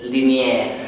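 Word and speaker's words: Lignière: Hello, I play Linier with a silent G in the middle.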